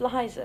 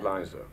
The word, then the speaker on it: Liza: like your name pronounced yeah it's Liza Liza with a z right Liza yes sir